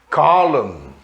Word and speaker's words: column: E a letra N, que vem depois de M, também não se pronuncia. Column, autumn, coluna, outono, né? Column, autumn, tam, a. Apesar de ser um AU, a pronúncia é autumn.